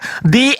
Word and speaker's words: the: He dibaca di itu ketika setelah huruf th itu adalah huruf vokal. Misal d. Nah, e itu huruf vokal kan itu kan kaidah pengucapan, Bang. Bukan kaidah loh. Iya, itu kaidah di Avengers bukan The Avengers. Salah. The Avengers. D. Bacanya di.